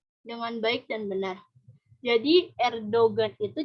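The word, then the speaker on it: Erdoğan: pengucapan emak-emak emas terus G atau Muzakki ini tidak dibaca kalau sudah di dalam suatu kata gitu contohnya itu ada Erdogan gitu kalau Erdogan Islam Indonesia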